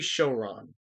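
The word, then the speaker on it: Showron: card captor was involved his name is lee shoron and it is spelled s-h-o-w-r-o-n it does not look japanese in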